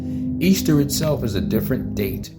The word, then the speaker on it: Ishtar: This is Ishtar, pronounced Easter.